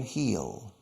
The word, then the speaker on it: he'll: he will he will contraction heal it sounds exactly the same as El tacon de Sabato heal or El Talon de